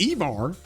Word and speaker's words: Ivar: He is pronounced Ivar. I got that confirmed, by the way, from some people who actually know that language, that it is pronounced Ivar, and he is the son of Ragnar, okay?